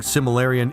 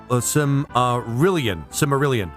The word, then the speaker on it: Silmarillion: Sorry, it's driving me crazy, but you keep saying Similarian. It's actually Silmarillion.